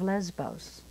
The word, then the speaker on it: Lesvos: And it's that I'm working with the refugees on the island of Lesbos. It's spelled Lesvos, but it's said Lesbos because the V is the B sound in Greek.